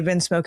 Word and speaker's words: Vinsmoke: So we find out that Sanji's family is um the Vinsmoke or the I think the Vins. I might be saying it wrong. Okay, Vinsmoke is correct.